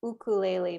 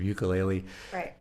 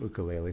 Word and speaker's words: ukulele: lot i can tell you say ukulele because that's how they say it in hawaii that is and and